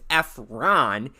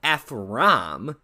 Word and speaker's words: Efram: With that said, I should note that this specific comment is coming from a person who not only constantly mispronounces my name as Efron instead of Efram, as you saw in that clip, but also made this typo in the description of your video.